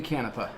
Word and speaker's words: Canepa: say what your last name how do you pronounce it kanafeh kanafeh he is a famous Tiki artist